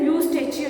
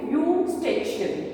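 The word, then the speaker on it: Eustachian: अ यू स्टेच tube यहां पे ई silent है तो इसके स्पेलिंग्स है ई यू एस टी ए सी एच आई ए ए यू stage ई को हम साइलेंट रखेंगे we will start prawn eating it from the यू okay यू स्टेच एस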